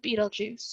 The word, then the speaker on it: Betelgeuse: a star named well there's multiple ways to pronounce the name most people I know call it Betelgeuse you can also call